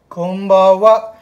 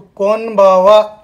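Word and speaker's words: こんばんは: कोन नहीं बोलना है, कोम्बावा। उच्चारण पे ध्यान देना आप। कोम्बावा मतलब M साउंड आ रहा है उसमें, M की जैसी आ रही है, माँ की जैसा साउंड आ रहा है, कोम्बावा।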